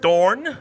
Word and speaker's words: Dorn: You've got Dorn with a D, and you've got Thorn with a TH.